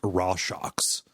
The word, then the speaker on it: Rorschach: So if for people in the audience, that is how you pronounce the name of the Watchman known as Rorschach. Yes. Is how that word's actually pronounced.